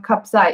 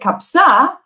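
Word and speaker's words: kabsa: kapsa was and if you don't know what kapzai is you will not figure it out because the pronunciation of rice and lamb we need to say kapsa is rice and lamb so even if one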